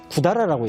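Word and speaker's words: 百済: 백제라고 써놓고 한자로 읽을 때는 구다라라고 읽어요.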